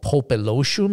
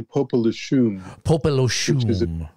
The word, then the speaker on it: Popelouchum: interesting name there and and another one called popeloshum am I pronouncing that correctly unfortunately not um it's actually popular shoes which is a mutsun Indian name for the